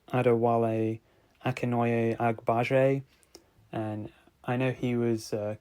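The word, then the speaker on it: Adewale Akinnuoye-Agbaje: I don't butcher his name, I think it's pronounced like Adewale Akinoye Agbaje, and I know he was Killer Croc in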